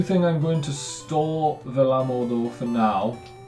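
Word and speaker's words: Vellamo: is, and it is Velamo. I think that's how you pronounce it. I did look up a pronunciation, and that's how the guy pronounced it, Velamo.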